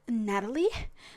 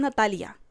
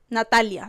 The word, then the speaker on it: Natalia: I say it in a very very Latino way because when I try to say it like in English, people keep keep saying like Natalie. Natalie. And I'm not Natalie. I'm Natalia. Okay. Natalia like that.